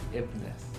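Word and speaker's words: Y'bneth: How do you pronounce that name? Yibinith? Well, the Thais pronounce it Ibnith. Ibnith. Okay, I guess that would probably make more sense.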